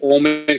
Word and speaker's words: ওম: ক্ষেত্রে যে ওমের ক্ষেত্রে হচ্ছে ও ও এর পরে তিন থাকে একে আমরা বলি প্লুতস্বর অর্থাৎ দীর্ঘস্বরের চেয়েও দীর্ঘ সেটা হচ্ছে প্লুতস্বর তো এজন্য হচ্ছে আমরা ওমের দীর্ঘায়িত উচ্চারণ করি ওম ও মানে এটা হচ্ছে তিন মাত্র উচ্চারণ কিন্তু একটা বিষয় খেয়াল